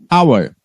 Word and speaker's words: hour: Now, but remember, hour. Why we use an? Because you don't pronounce the H sounds here, okay?